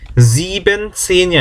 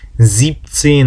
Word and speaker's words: siebzehn: 그 다음 17은 siebenzehn이 아니고 여기서는 siebenzehn 발음이 어렵잖아요. 합칠 때는 siebzehn 합니다.